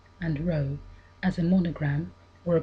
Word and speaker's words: rho: the letters chi and rho as a monogram or a person's initials created artistically with intertwined letters. The chi rho is made up of the letters chi, pronounced k, and rho, pronounced r, the first letters of Christ's name.